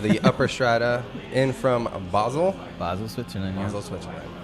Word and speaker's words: Basel: Of the Upper Strata, in from Basel. Basel, Switzerland. Yeah. Basel, Switzerland. What's the other way people pronounce it? Basil? No, that's what you put on pizzas and stuff. Yeah. It's something different. Something different entirely.